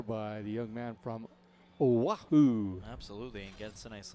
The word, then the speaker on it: Oahu: and said, you know, remember when we went to Oahu? And this other guy who thought he was a know-it-all says, I think it's pronounced Ohio.